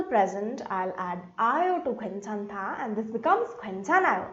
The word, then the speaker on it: 괜찮다: So how are we pronouncing 괜찮다? OA gives me a where sound, so 괜찮다. When these two come together, we get a sound. So 괜찮다, 괜찮다.